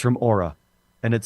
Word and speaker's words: Oura: I don't even know how to spell it. I think it's the AU. Is it AURA?